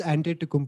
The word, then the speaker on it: Antetokounmpo: It's Giannis Antetokounmpo. Giannis, yeah, Greek freak. Giannis Antetokounmpo.